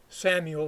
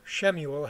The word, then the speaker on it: Samuel: about 20 years for Samuel, or Shemuel, however you want to pronounce it, took on the mantle fully of leadership of the Israelites.